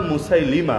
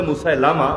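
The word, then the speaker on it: مسيلمة: একজনের নাম মুসাইলিমা। লোকে বলে মুসাইলামা। ভুল উচ্চারণ। মুসাইলিমা। মুসাইলিমা।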